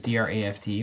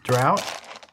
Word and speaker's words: draught: American English commonly uses D-R-A-F-T, while British English uses D-R-A-U-G-H-T. But apparently they're pronounced the same, so... Drought? Yeah, I think the British say draught. Draft.